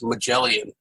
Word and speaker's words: Magelion: intuitive writer and empath her name is derived from combining the color magenta and her star sign Leo it is pronounced mellian here you will find